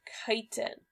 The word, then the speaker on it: chitin: I know it looks like chitin, but it's pronounced chitin.